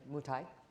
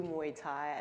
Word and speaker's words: Muay Thai: We know that you were very active in Muay Thai. Am I saying it right? Yeah. Muay Thai.